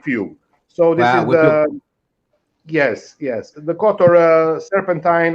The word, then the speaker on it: Jaz: the longest beach uh close to budva named jazz we pronouncing yes but usually the foreigners pronouncing jazz there are